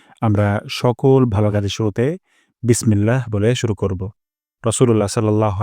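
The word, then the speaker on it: بسم الله: প্রথম শব্দটি হলো বিসমিল্লাহ এখানে বিস সিন থেকে আমরা বাতাস বের করব বিস তারপর মিল্লা ইলাতে আল্লাহ শব্দ এখানে আমরা এক আলিফ টান দিব এক আলিফ টান লম্বা করে দিব বিসমিল্লাহ তারপর হিয়ার এখানে প্রথম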